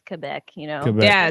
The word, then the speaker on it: Quebec: I've always been told it's Quebec, like with a K, Quebec.